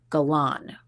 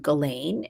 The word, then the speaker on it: Ghislaine: Interestingly enough, people are pronouncing her name so many different ways. Jeffrey Epstein's brother, Mark Epstein, was also on with Nancy Grace today, and he calls her Galan. And we've heard Ghislaine, and we've heard other variations.